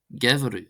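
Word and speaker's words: geimhreadh: The slender version is pronounced as a V sound. For example, gevru, gevru, gevru, gevru, gevru, gevru, gevru, gevru, gevru, meaning winter.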